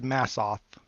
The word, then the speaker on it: Massoth: Yeah, she said Massoth. That's kind of how it's spelled too, but I didn't want to say it wrong.